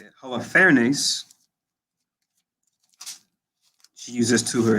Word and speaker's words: Holofernes: Holofernes.